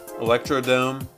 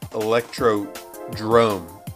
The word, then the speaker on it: Electrodrome: Electrodrome. It's not Electrodome. It's Electrodrome. It's like the Bernstein Bears and the Bernstein Bears. It's the Mandela effect. It's Electrodrome. And it always has been.